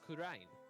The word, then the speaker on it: Kurain: Oh yeah, it's spelled one way but say it another. It was Kurain, which is exactly how it's spelled.